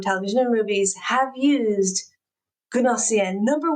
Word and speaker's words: Gnossienne: This piece of music is called Gnossienne. You might be thinking, what is that? How do I spell that?